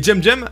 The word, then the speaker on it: CEMCEM: Et JemJem, alors oui ça s'écrit Semsem mais il a dit que ça se disait JemJem.